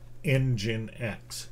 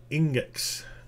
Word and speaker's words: nginx: time to figure out that this should be pronounced nginx right but in gin x engine x engine x i used to call it index because you know in in g kind of